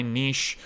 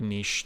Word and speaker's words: niche: that's kind of my niche or niche depending on how you pronounce it where you're from I like niche that's how I was